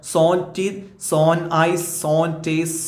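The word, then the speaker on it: sans: അടുത്ത വേഡ് നോക്ക നിങ്ങൾ സാൻസ് ടീത് അത് രണ്ടു രീതിയിൽ വായിക്കട്ടോ ഇംഗ്ലീഷ് പിന്നെ ഉച്ചാരണാണ് സാൻസ് ഇത് ശരിക്കും ഒരു ഫ്രഞ്ച് വേഡാണ് സോൺ എന്നാണ് ഫ്രഞ്ച് ഉച്ചാരണത്തിൽ വായിക്കുക സോൺ ടീത് സോൺ ഐസ് സോൺ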